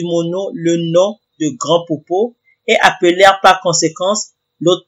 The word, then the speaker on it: Popo: quotidien en deuxiè lieu popo était accentué sur la deuxième syllabe ce qui sur le plan phonétique correspondait exactement à la prononciation du terme populaire allemand qui désignait la partie postérieure de l'homme troisièmement petit popo était